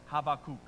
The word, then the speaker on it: Habakkuk: you say the name I say habac because that's the first way that I learned it some people call him habac right uh or if you want to get super Hebrew and impress your friends that's havakuk that's how you say it okay so uh